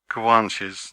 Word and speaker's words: Guanches: Who were the Kwanches? Did I get it right that time? Yes, perfect, perfect pronunciation.